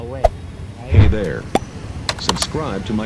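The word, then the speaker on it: Huế: Medyo mahirap siang i-pronounce kasi pag binasa mo siya dapat way 'di ba? Pero dito sa kanila pag sinabi mong way hindi nila maiintindihan kasi ang tamang pronunciation sa kanila uw ganun lang siya talaga uwi.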